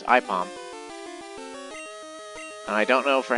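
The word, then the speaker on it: Aipom: You might think that's supposed to be said apom but uh AI is pronounced I so it's IPOM.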